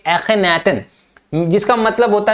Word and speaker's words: Akhenaten: अब ये बड़े अजीबोगरीब वर्ड है जो कि इजिप्शियन वर्ड है, तो इसको प्रोनाउंसिएशन आप करिए एखेनाटन, जिसका मतलब होता है मीनिंग सर्वेंट ऑफ एटेंस, एटेंस का नौकर, एटेंस का सर्वेंट, है ना।